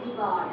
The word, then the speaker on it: jugaad: In Hindi we say jugaad.